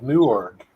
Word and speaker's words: Newark: Nurk, Ohio. Well, that's not how Austin Miller pronounces where he lives. He says Newark, Ohio.